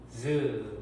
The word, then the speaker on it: 반치음: 그래서 이빨 소리의 절반만 낸다라고 해서 조금 부드럽게 내면 돼요. 그래서 즈 이렇게 발음하면 돼요.